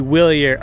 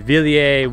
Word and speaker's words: Wilier: flante SLR is the willier okay someone's gonna comments already I think it's pronounced sorry villier willier willier whatever you want to call it I like saying willier anyways the fallante SLR